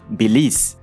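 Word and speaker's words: Belize: Mungkin perlu diperhatikan di mana dalam bahasa Inggris huruf terakhirnya adalah E yang tidak dibaca juga karena pelafalannya adalah bilis.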